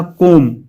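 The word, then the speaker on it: comb: फिर सी वाला कोम इसमें बी साइलेंट है।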